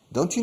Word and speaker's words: don't you: La T de don't, cuando se enlaza con Y después, como you, se oye un sonido de chu.